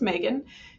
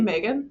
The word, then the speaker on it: Meganne: So my name is Megan. You can call me Megan. That's fine with me. We're all adults. But it's spelled Meganne, which I know is weird.